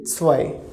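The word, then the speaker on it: zwei: two that's why say pronunciation of z is up okay so then we have w pronunciation is vo and then e i so vo i so whoa i overall pronunciation will be swai okay swine then we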